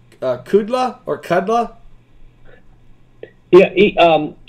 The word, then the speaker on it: Kudla: is is is pronounced kudla or kudla yeah um kudla is fine and uh the best pronounce his way is could La could La could L could la like I I could do it okay I KLA okay